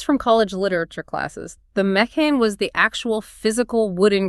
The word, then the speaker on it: mechane: It comes from the ancient Greek mech spelled phonetically me kh ah nay meaning a contrivance or a machine. Wait, I remember this from college literature classes. The mechane was the actual physical